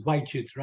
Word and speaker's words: vichitra: It's vichitra. I mispronounced it.